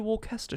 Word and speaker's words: Worcestershire: worcestershire is because the first word worcester is followed by shire however you don't pronounce it new hampshire you don't print out you know our main boulevard wilshere boulevard in los angeles you don't pronounce it will shire worcestershire i'm gonna this is gonna dude i know this is gonna get me in hot water from some people it's actually the wool cast a shot didn't you know